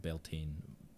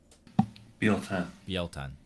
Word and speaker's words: Beltane: So it's Prince of Beltane. No, I always say that wrong, don't I? How do you say it, Luke? Bieltan. There we go.